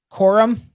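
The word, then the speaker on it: Coriam: know how do you pronounce her her surname corium corium oh I know what you're talking about c c o r i a m quorum quorum yeah like that hey guys I had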